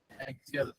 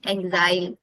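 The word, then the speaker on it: axile: Side वाला marginal और first वाला एक्सियल। एक्सियल नहीं, एक्साइल, एक्साइल।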